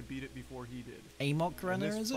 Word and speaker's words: Amok: I know it's not actually pronounced Amok, it's more like Amok or Amok.